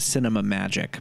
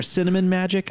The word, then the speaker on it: Cinemagique: I'm pretty sure it's pronounced Cinema Magic, but that's just me. Oh, okay. Or cinnamon magic. I'm not sure.